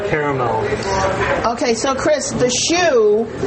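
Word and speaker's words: choux: component is a caramel okay so Chris the shoe how do you spell that uh shoe it's Pate so p-a-t-e and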